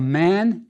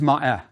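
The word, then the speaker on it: maat: A word that we've seen before is ma. It means true or just. Often it's just pronounced ma. We all do that.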